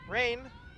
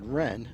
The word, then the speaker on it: Wren: It's number 22, Rain. Yeah, I believe that's pronounced Wren, Abby Wren, senior, one of the captains.